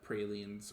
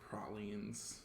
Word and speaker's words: praline: gumbo jambalaya and uh pralines or pralines however you want to pronounce it um so I think